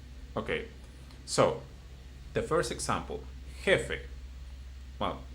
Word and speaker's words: jefe: So, because it ends in a vowel, which is e, so it will be jefe.